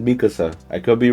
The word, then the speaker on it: Mikasa: First of all, the viewers might come at you for pronunciation. I'm pretty sure it's Mikasa.